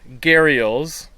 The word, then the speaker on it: gharial: And then there's only 2 gharials. Is that how you say it? Gharials? Yes. It's gharial.